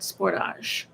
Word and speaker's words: Sportage: In Canada, it's pronounced like the French word sportage.